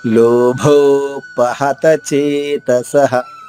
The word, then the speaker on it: లోభోపహత చేతసః: లోభోపహత చేతసః. అమ్మయ్య, ఇక్కడ అన్ని సులభంగా ఉన్న అక్షరాలు. లోభోపహత చేతసః. లోభో ఇక్కడ మహాప్రాణి భ ఓకారంతో దీర్ఘంగా. లోభోపహత చేతసః. విసర్గ ఉచ్చారణ హ, హ్రస్వంగా చెప్పాలి. కులక్షయకృతం దోషం.